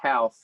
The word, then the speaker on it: Houff: last name well yeah i think you did get it right it's half um and you can't